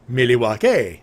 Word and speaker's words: Milwaukee: And the natives actually pronounce it Milwaukee. Milwaukee.